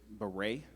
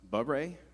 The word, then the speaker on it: beret: The word is beret. It could also be pronounced beret.